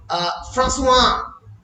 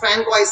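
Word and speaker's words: François: For example, in French nouns and voiceless consonant, French কিন্তু প্রচুর পরিমাণে ভয়েসলেস কনসোন্যান্ট আছে যার উচ্চারণ হয় না। আমরা দেখেছি, ফর এক্সাম্পল, ফ্রাঁসোয়া, FRANCOIS, ফ্র্যাঙ্কওয়াইস, তাই তো?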